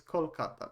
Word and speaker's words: Kolkata: or kolkata again so like the when you don't have a vowel like usually it pronunciated as a but I think it's more common in Bengali that it becomes an o so it's kolkata but it's just like